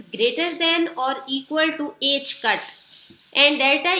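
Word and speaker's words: ħ: than or equal to h cut. Now what is h cut? H cut is equal to h over 2 pi. इसको h cut pronounce करते हैं और ये h over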